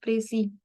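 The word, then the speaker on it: précis: एक French word है next इसको प्रोनाउंस कैसे करना है प्रसी यह इसकी प्रोनाउंस की एविएशन ठीक है देन हम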